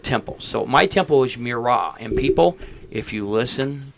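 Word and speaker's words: Murat: So my temple is Mirra. And people if you listen to clear channel is not pronounced Morat. We have no goddamn Morat at Mirage. It's Mirra. It's French and it's not Morat.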